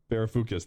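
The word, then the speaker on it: Varoufakis: me that's also an economy i think giannis verufakis uh yeah i can never pronounce his last name giannis verafucus verafucus that's it i i think it was kind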